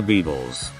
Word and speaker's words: Beatles: for the linguistic experts Maybe it's not the Beatles pronounce the T not a false d go on try it